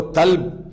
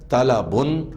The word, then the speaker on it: طلب: غلطی نہ کیجئے کہ طلب کو طلب نہ پڑھیے، مرض کو مرض نہ پڑھیے، اور درجہ کو درجہ نہ پڑھیے، اور صدقہ کو صدقہ نہ پڑھیے۔ اس کا خاص خیال رکھیے کہ آپ کا تلفظ عربی زبان کے تلفظ کے عین مطابق ہے۔ یہاں عین قلبے